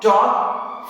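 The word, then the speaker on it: talk: इस तरह से याद रखना है कि हमें इन सब शब्दों में कभी भी एल का प्रोनाउंसिएशन हम नहीं करेंगे। काम, palm, palmist, could, would, should, Chowk, टॉक, Fock, calf, behalf, better half.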